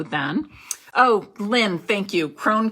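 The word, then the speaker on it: Krohn: oh lynn thank you crone conservatory and i i knew it was one syllable and i just was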